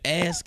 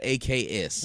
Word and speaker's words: ask: And black people need to know that ask is spelled ASK, not AKS.